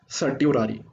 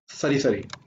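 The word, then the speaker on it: certiorari: Number third हबीस corpus mandamus prohibition, हबीस corpus mandamus prohibition, then सरी सरी, इसको मैं प्रोनाउंसिएशन के अकॉर्डिंग बोलता हूं सर्टियोरारी, ताकि स्पेलिंग याद रहे, सर्टियोरारी। वैसे प्रोनाउंसिएशन होती है सरी सरी।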